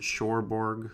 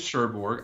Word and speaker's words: Cherbourg: right that is correct um means that is how you pronounce it Cherbourg something like that oh sure probably not as it's French but yeah umbrellas of Cherbourg is what I'm gonna go with my sherbert some very